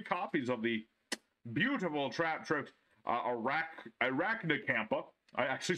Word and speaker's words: Arachnacampa: Traptrix Vesiculo, three copies of the beautiful Traptrix Arachnacampa. I actually said it right that time. Arachnacampa.